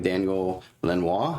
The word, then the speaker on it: Daniel Lanois: So, then we have, let's see, this was Oh Mercy, 1989, Daniel Lanois, I think is the way you pronounce his name.